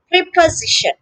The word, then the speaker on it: preposition: of speech yes it's preposition preparation preposition yes so notice that the s is pronounced as as as a sound okay the stress is on the third syllable z preposition the next